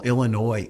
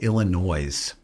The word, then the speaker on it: Illinois: like when people call Illinois Illinois don't pronounce the S like what is wrong